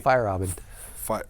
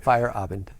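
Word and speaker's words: Feyerabend: a a philosopher named paul fairband i think that's how you pronounce it or you can pronounce it correctly fire robin okay fire abandoned fire okay plus or minus uh four or five vowels but um he wrote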